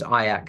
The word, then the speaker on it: IACC: um the association is fondly known as aak the only word that rhymes with kayak I've been told so